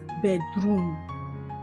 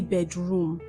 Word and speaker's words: bedroom: What if I tell you that this word is not pronounced as bedroom? No, it's not. Whenever you have two syllables, compound nouns, the stress is often placed on the first syllable and not on the second syllable.